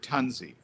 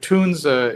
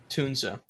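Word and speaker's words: Tunze: the other reps that were native English speakers said Tanzi and just kind of the English fanatics, that's the way you would think it would be said. But, but, Tunza is the German correct pronunciation.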